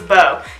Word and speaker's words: Beau: right boom boom boom right I said it right first though okay so it's bow y'all see Meg um